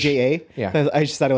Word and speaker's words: Aja: AJA. Yeah. I just thought it was Aja. Okay. Because we were like reading the list of Apple's 100 greatest albums. I'm like, oh, Aja. Everybody's like, Asia?